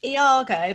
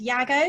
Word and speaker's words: Iago: do that Bradley sir I've always pronounced it Iago but apparently it's actually pronounced Iago because it's a Welsh name I'm not gonna start